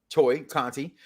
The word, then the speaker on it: Tay Conti: We have That's a match actually pronounced Toy Conti.